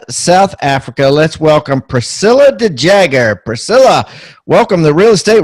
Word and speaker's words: de Jager: We pronounce the surname as de Jager, I think, for the Americans. In our language, it would be de Jager, funny enough.